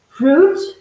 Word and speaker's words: fruit: every fruit and that is careful mind the pronunciation it's fruit as well as juice so when you see